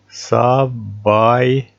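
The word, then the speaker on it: ສະບາຍດີ: С, А, Б, А, И, Д, И, которая пишется над буквой Д. Сабайди.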